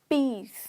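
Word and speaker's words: piece: करेंगे मतलब सांड आवाज जैसे कि पीस पीस मतलब टुकड़ा अगर मैं यह नहीं बोल रही पीस पीस अगर मैं यह बोलूंगी तो व शांति हो जाता है ठीक है पीस दोनों को ऐसे बोल सकते ई ए भी अब यहां पर ई ए साउंड भी ई की साउंड निकालता है तो इसलिए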